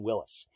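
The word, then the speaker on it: Willys: city you think it's willy's parkway or the willy's overland it's not the guy pronounced his last name willis um john north willis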